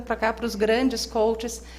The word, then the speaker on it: coach: Coaching, coach e coachee. Realmente tem uma sutil diferença na pronúncia, porque um deles é o processo, que é coaching. Então, tem o NG no final. Quem aplica o processo é o coach, sem ING no final.